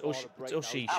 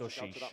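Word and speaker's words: Aouchiche: It's Oshish, apparently. I've heard him say his own name now in French. It's Oshish. Can you say it in the French accent? Oshish.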